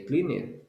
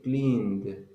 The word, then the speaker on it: cleaned: answer answered clean cleaned you don't need to say clean it you say cleaned yes and the last